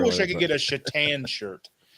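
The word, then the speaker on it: Šatan: i could get a chetan shirt chittan yeah cause it's spelled s-a-t-a-n oh yeah yeah right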